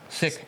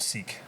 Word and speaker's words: Sikh: So And I've known, so it's pronounced Sikh, S-I-K-H, Yeah. Sikh. sick, Yeah. because we got told sick, but sick, and it is, and I've grown up around many Sikhs, but I've never known that.